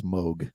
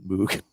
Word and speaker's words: Moog: It is Moog. It is not Moog, even though it's spelled Moog.